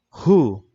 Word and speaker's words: Who: 1H itu yang pertama ini adalah huya cara bacanya guenya nggak perlu kita baca cukup Who seperti itu hi hu yang